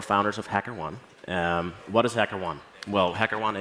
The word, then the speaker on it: HackerOne: At HackerOne, we call each other HackerOnies. It's the common mispronunciation of our company name. HackerOne sounds kind of delicious, though, but yeah.